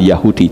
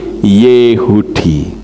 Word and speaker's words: Yehudi: orang banyak berkata Yahudi membacanya bukan Yahudi tetapi yehudi loh saya ngerti seperti